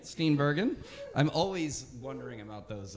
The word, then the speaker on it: Steenbergen: Steenbergen. I'm always wondering about those. About the pronunciations there.